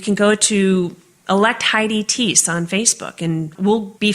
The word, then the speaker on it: Thiess: first name it's because my last name is tease t-h-i-e-s-s and nobody can ever remember how to say it correctly or spell it correctly